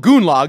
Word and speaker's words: Goonlag: a russian version that that's called goonlog that's what they call it there because it rhymes with gulag that was actually a